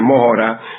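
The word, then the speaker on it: Mohra: Allí estaba la idea, la aldea esta de Mora que se escribe M O h R a.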